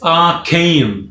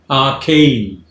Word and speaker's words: arcane: first of all it's arcane two syllables are cane stresses on the second syllable arcane it means something that